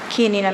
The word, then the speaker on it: Chianina: If you knew in Italian, it would be the CH like Chianti.